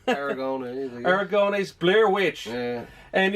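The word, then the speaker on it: Aragonés: Will you pronounce the name? Aragones.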